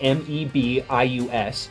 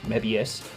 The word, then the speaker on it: Mebius: Mabius or you can say it with a hearty because originally the oh in the II together would have made a hard letter sound so it could also be said as Mebius again being an English